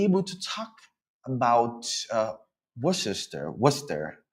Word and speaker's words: Worcester: If you were born here, it's Worcester, which means there's no R at the end.